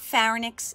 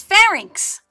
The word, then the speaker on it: pharynx: the pronunciation of pharynx it's not pharynx it's pharynx now as the food travels